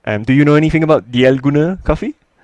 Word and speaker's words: Dalgona: The Dalgona coffee. Yes, the Dalgona coffee. Yes, indeed. Dalgona. Yes. Do you know anything about Dalgona coffee?